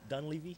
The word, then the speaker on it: Dunleavy: How'd you pronounce his name? Dunleavy.